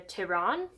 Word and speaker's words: Tehran: And she's like, hey, so BTW, I want to move to Tehran. Let me make sure I'm pronouncing that right. Tehran. I said that right.